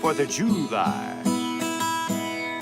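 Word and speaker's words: Fourth of July: 4th of July. Accent on that first syllable, it's a southern thing.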